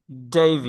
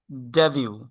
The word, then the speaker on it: debut: ডেইভিউ।